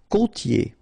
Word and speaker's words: côtier: Côtier. Okay, so here you get this O, accent circumflex. You tend to insist a little bit more on it, so it's a bit lower. Co, co, okay? Côtier, okay? I-E-R here, yé, yé. Côtier.